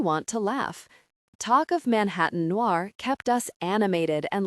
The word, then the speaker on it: Manhattan: Manhattan Noir, which given his French accent, he pronounced Manatan Noir.